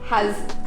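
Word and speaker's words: 蝦: new year meals because its pronunciation in cantonese ha echoes the sound of ringing laughter according to tradition when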